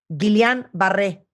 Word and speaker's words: Guillain-Barré: Nos va a platicar qué es el síndrome, que a ver si lo pronuncio bien, Erwin. Guillain-Barré. Guillain-Barré.